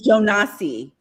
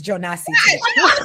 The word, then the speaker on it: Jonas: American is Jonasi. I think the Africans are pronouncing it Jonas. Well, guess what? I'm African-American. It's Jonasi.